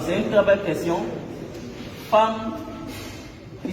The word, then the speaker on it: femme: J'aimerais savoir pourquoi l'on écrit femme avec E, pourquoi pas avec A. Super. Alors, c'est une très belle question. Femme qui s'écrit F-E-2-M-E, qu'on ne dit pas femme ou femme.